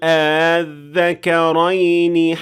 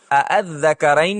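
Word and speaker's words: آلذكرين: ابھی بیان کی ہیں، بلکہ اس کی بجائے ہم تسہیل کا اطلاق کریں گے، جو کہ حمزہ کو بغیر کھینچے یا بغیر مکمل طور پر واضح کیے جزوی طور پر تلفظ کرنا ہے، اور یہ اس طرح سنائی دے گا: قل الذكرين حرم أم الأنثيين. غور کریں کہ میں نے دونوں حمزہ کو مکمل طور پر قل الذکرین نہیں کہا، اور میں نے حمزۃ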